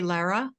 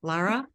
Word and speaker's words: Lara: pronounce your name differently than I realized I pronounced it so do you say Lara yes okay I'm sorry I didn't I don't think I ever realized that so Lara thank you so much for being here with